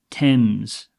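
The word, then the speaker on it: Thames: word shops and entertainment entertainment the river river temps now I want you to be careful here this is pronounced t e m z TS okay it's not themes many people might say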